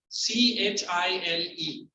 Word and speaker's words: Chile: Somebody pronounces child. Nobody ये कौन सा नया country है? So आप geography teacher हो के नहीं मालूम है? नॉर्मल ऐसा कोई country है ही नहीं. CHILE. Normal it's Chile. Chile रहेगा तो CHILLY.